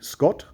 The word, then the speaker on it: Sgot: Scott is spelt S''G-O-T, Scott.